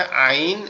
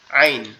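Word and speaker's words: عين: আইনটা হচ্ছে আমাদের এই কণ্ঠনালীর এই মাঝখান থেকে, অর্থাৎ এই যেখান থেকে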